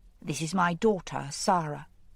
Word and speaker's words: Sara: She said, "This is my daughter, Sara." Pronouncing the name so that the first syllable rhymed with car.